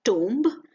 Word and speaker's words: tomb: For example, tomb. It is not tomb but tomb. The B in the end is silent.